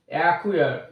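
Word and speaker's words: acquire: example অ্যাকুয়ার, এ সি কিউ ইউ আই আর ই, অ্যাকুয়ার, অর্থাৎ এখানে C silent, অর্থাৎ directly এর পর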